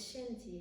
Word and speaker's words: Shenti: it's shanti nashanti but actually no it's shinty it's a chinese word that means body and health and when you look